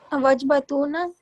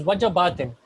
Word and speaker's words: وجبات: I don't know Wajbatuna. It is irregular. It's not wajbatuna. It is wajabatin.